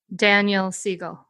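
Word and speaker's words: Daniel Siegel: I'm actually not sure if that's how you pronounce his name by Kol brainchild and Drive no drama discipline Daniel Seagle yeah thank you as far as I know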